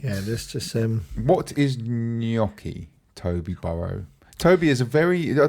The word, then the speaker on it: gnocchi: Yeah, and he's asked what's gnocchi or gnocchi? It's pronounced gnocchi.